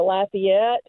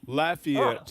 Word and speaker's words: Lafayette: Oh, Lafayette's how they say it Lafayette.